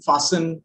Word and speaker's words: fasten: T is also silent when it is a part of the letter combination STEN, as in listen, fasten, christen.